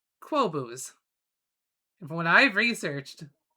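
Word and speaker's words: Qobuz: to a service called and it's hard to pronounce. It is Quo Booze. Here, let me show it. Yeah, that's the client right there. Q B U Z Quobos.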